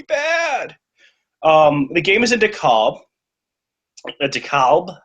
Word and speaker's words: DeKalb: it's DeKalb. It is with that Great Lakes vowel raise in there.